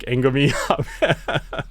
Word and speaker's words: Agnomeio: Sorry, Don Angomi, right? Like Angomi. Yep.